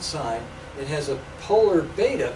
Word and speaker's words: beta: It has a polar beta. Beta rhymes with theta, our usual designation of that angle, with a cosine here and two sines.